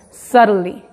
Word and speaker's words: subtly: Entonces, si te pones a pronunciarlo lento, subtly, pero al hablar lo decimos rápido. Y aunque estás pronunciando la T y la L, pero como lo estás pronunciando rápido, la T y la L juntas, en este caso, parece que suena como R, pero en realidad es